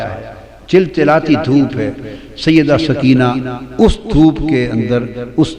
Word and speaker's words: سکینہ: لخت جگر شہزادی سیدہ سکینہ، اصل نام ان کا عربی وزن میں سکینہ ہے، عرف عام میں سکینہ چلتا ہے، مگر اصل لفظ سکینہ۔ سیدہ، میں عرف عام